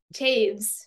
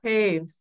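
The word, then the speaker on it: Toews: I read a book by Miriam, I don't know how to pronounce her name. Taves. Taves.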